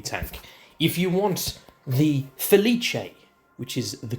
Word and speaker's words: Felice: I've also called certain tanks incorrectly but felice. Come on, bro. It's feliche.